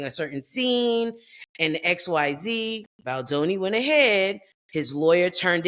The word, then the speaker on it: Baldoni: Baldoni.